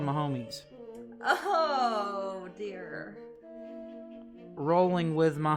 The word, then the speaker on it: Mahomes: are waking up oh so it is pronounced my homies i thought it was mahomes i don't know anything